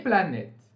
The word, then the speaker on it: planètes: O S não é pronunciado, tá bom? Les planètes.